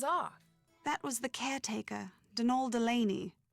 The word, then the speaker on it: Donal: that was the caretaker denol Delaney not Donald mind you there's no D at the end so it's pronounced denal that's the way you're